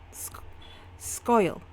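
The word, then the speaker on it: Sca'il: It's pronounced um it's a it's a Scottish word. It's very hard to pronounce. It is like skoil. Like scoil or something.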